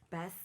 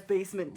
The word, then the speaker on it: BASMNT: where's the e cuz when I was reading your name for the person I'm like best yeah you ready and then you like basement spell basement pronounced as basement here so where did